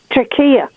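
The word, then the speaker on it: Türkiye: I have noticed that they started to spell Turkey, Turkiye, and to pronounce it Turkiye.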